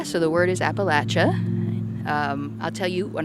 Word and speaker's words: Appalachia: So, I see the word Appalachia and I automatically want to think about the pronunciation of that word Appalachia. A lot of out oftowners say Appalachia and the people that live around here know and think it's Appalachia.